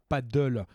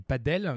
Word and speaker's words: padel: centre de padel donc ce n'est pas du paddle comme le la discipline août une paix sur une planche et thuram c'est du padel donc ces espagnols ça